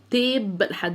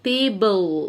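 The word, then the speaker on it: table: الترابيزه اسمها تيب لحد البي اهو، تيبل، والاي في الاخر مش هنطقها. تيبل.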